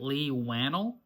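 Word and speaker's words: Leigh Whannell: Forgive me on this name pronunciation, but our director is Lee, except it's spelled a little different. So if it's Lay, I'm sorry, but Lee Wannell, I'm pretty sure how you say his name.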